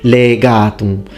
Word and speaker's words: legatum: As Luke in his video points out, in this part, excellently pronounced, the only thing, legatum. So we need the e longer. Its phonemic vowel length is very important in Latin.